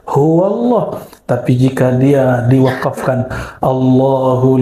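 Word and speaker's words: هو الله: Karena dia disambung maka dibaca huwallah.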